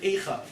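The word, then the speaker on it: אֵיכָה: But the first time the word Eicha truly appears in the Torah is all the way back, Sefer Bereshis, Adam Arishon, after the sin of Adam and Chava. It's the same letters, different pronunciation.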